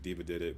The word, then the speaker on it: DEVADIDIT: It's like, so it's at, and then it's pronounced Diva Did It, but it's DEVADIDIT.